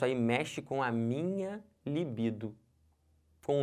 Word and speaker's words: libido: gênero do substantivo mas o certo é a libido e não o libido então aí isso aí mexe com a minha libido com o meu desejo entendeu isso beleza aqui